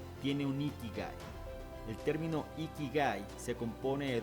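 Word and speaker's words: 生き甲斐: Ikigai, pronunciado Ikigai, es un concepto japonés que significa la razón de vivir o la razón de ser.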